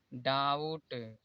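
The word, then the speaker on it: doubt: silent रहता है जैसे टी से पहले यहां पर भी है तो यया डेट यहां पर भी साइलेंट है डाउट सटल यहां पर देखिए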